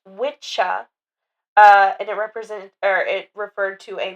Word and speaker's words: Wicca: It's Old English, pronounced witcha, and it referred to a male practitioner of witchcraft or magic, but was later popularized by Gardner.